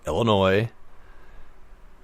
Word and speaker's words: Illinois: what it means anyway Illinois the S is silent there is no e at the end of it so it's not noise there's only one of them so it's not plural it's just Illinois shouldn't be there then